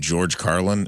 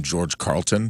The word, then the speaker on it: George Carlin: that Jeff Burton was when he interviewed George Carlin and he kept calling him George Carlton.